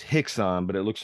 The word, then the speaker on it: Rickson: k s o n in Portuguese RS are pronounced with hes so it's Hixon but it looks like